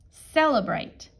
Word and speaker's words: celebrate: them okay okay celebrate and this C is also a soft C celebrate do something fun to